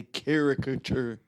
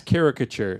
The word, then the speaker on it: caricature: mirror catcher no I've never heard it's a caricature well that's how it's pronounced not in my world because you will